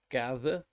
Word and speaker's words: gather: we use quite frequently such as gather gather is actually just got an a sound and um math although